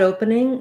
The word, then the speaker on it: opening: opening um i've tried opening we tend to um run that all together with open i've tried opening the ope syllable is stressed so we're going to be kind of fast i've